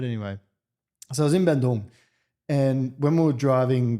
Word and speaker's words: Bandung: I love the way you pronounce it. Is that correct? Bandung. Bandung? Is yeah. that correct? That's the way.